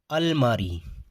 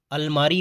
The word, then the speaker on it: almirah: जैसे हमारा पहला वर्ड है अलमारी। अलमारी को इंग्लिश में क्या बोलते हैं? ALMIRAH। ये हो गई इसकी स्पेलिंग। और इसको बोलते हैं अलमीरा। अलमीरा। और एक अलमारी होती है दीवार में जो फिट होती है।